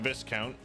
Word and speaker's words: Viscount: I doubt the Viscount has much interest in the authority of his liege lord. The S is silent.